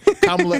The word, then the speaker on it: Kamala: Kamala Harris is now running as...